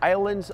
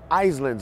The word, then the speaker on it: Islands: Então, islands, islands. Tem até aquele parque da Universal, Universal Studios, na Flórida, que é o Islands of Adventure. Eu já ouvi inúmeras pessoas, inúmeras vezes, falando Islands of Adventure.